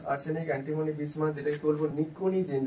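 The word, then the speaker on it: pnictogen: antimony বিসমাস যেটাকে বলব নিকোনিজেন যেখানে এনটা সাইলেন্ট থাকবে সাইকোলজি যেমন পিটা সাইলেন্ট থাকে এখানে নিকজেন পিটা সাইলেন্ট থাকে সরি পিটা সাইলেন্ট থাকবে আর এখানে সিক্স এভি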